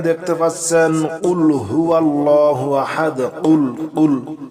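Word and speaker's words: قُلْ: কুল কুল গলার ভিতরে কুলহু আল্লাহু আহাদ।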